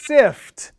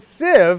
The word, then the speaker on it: sieve: So in sifting a sieve, now that word sieve has that V sound at the end. So you say sieve, not sif. Sieve, not sib, but sieve, the V sound.